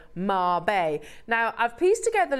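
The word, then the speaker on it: Mabe: fact I'm about to show you how it's pronounced and it does say Marb now I've pieced together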